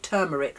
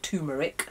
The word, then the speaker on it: turmeric: No, we call it turmeric, not turmeric, because they've phonetically written it on here.